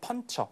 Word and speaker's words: puncher: 종이의 구멍을 뚫는 사무용품을 이제 펀처. 그게 hole puncher입니다. 뒤에 R 사운드 역시도 없으니까 그냥 펀처 이렇게 발음되는 거죠.